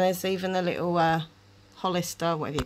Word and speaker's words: Hollister: and it's some holster is it holster Hollister how do you say that Hollister Hollister California that's all I'm